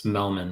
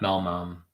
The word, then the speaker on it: Melman: Tobar what's going on you sold my name wrong it's Melman not malmum happy Saturday it is